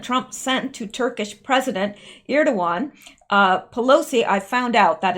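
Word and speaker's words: Erdoğan: given letter President Trump sent to Turkish president ear 2-1 Pelosi I found out that is the proper way to pronounce it as ear to one I guess the G is silent in Turkey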